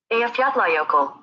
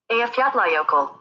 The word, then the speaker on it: Eyjafjallajökull: Okay, so here's just a Google saying how you pronounce it. Eyjafjallajökull. Eyjafjallajökull. Eyjafjallajökull.